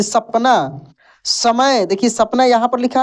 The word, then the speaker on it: समय: लेकिन दंत स का उच्चारण दांत से होता है। इसका ध्वनि दांत से निकलता है। जैसे समय, समय।